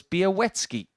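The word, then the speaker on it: Białecki: how this is said so now we know it's be a wetsky and beowetsky didn't need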